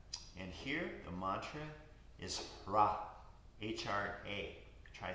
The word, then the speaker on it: Hra: And here, the mantra is Hra, H-R-A.